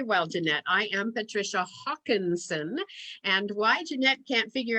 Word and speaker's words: Haakonson: I am Patricia Haakonson, and why Jeanette can't figure out how to pronounce it is spelled H-A-A-K. There's no W there.